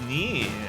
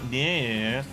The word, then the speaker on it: NieR: Oh, well, it's Nier, and it's not Neir.